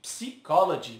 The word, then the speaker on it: psychology: Já esse é bem comum o erro também, pois onde já se viu começar uma palavra com P e não pronunciar, né? E ainda, um Y é dito como I e o outro como I. Psychology, muito parecido com português, né?